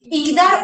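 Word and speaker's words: either: एक बात बता दे जिसको मैं आइर या नादर करके प्रनं कर रही हूं इसका दूसरा प्रोनंसिएशन इदर और नीदर भी होता है दोनों ही करेक्ट है अपनी अपनी जगह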